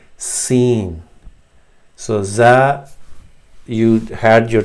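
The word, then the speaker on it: سين: But in seen, you say, you keep your teeth together, clenched together, seen, and a whistling sound will come out. So in this diagram, these front teeth will join, and you just say s, seen.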